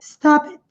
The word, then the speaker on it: stop it: do P, stop it, e a ênfase está no stop, stop it, stop it, não é stop it. É pronunciado como se fosse a mesma palavra, stop it, e esse T bem sutil, quase imperceptível.